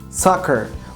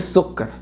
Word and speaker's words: soccer: ساكر. وخلي بالك مش سكر، ما بتتنطقش سكر ولا سكر. بص، ساكر ساكر ساكر.